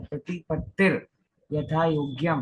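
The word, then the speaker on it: प्रतिपत्तिर्यथायोग्यम्: वही चीज मैंने बताई, जिस अक्षर के ऊपर रेश है उसका उच्चारण पहले, तो आपको आपकी आवाज उच्चारण। स्लो आ रही है, थोड़ी सी हाँ, स्लो आ रही है आपको। तो ये य के ऊपर रेश है ना, तो य का उच्चारण करो, उसके पहले रहेगा प्रतिपत्तिर यथा योग्यम प्रति वात्सल्यम प्रतिपत अभिलप्यते।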